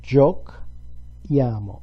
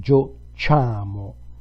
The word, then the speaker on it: giochiamo: Noi giochiamo. If we left it like this, we pronounce it giochiamo. We need an H to pronounce that syllable K. Giochiamo.